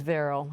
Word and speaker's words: Varrell: So we go to Veril from Warren. What's your question, please, Veril? Hope I'm pronouncing your name correctly.